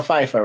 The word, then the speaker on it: Pfeiffer: the actress uh michelle pfeiffer right yeah oh yeah you know her name her name starts with the p and the f right right so you know you know the p is silent like the p in